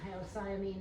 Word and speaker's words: hyoscyamine: You'll see it with its complicated, ridiculous name, hyoscyamine. The C is silent.